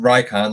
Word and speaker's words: Rycon: And yes, apparently it's pronounced Rycon, like icon.